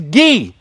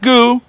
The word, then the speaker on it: Guy: People are always on my ass to pronounce it right, but it is Guy. It's not Goo. It's not, well, it could be Guy if you're in America, but it's Guy.